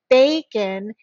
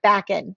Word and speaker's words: bacon: Bacon, it's that end, bay is the end of the syllable, so it's a long A, not backen, right?